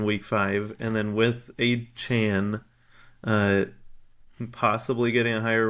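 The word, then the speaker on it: Achane: did you see that he wants people to pronounce his name a Chan I don't physically know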